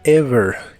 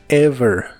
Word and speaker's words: ever: David usaremos la palabra Ever que significa alguna vez la v es la biodental ever ever usaremos la palabra lately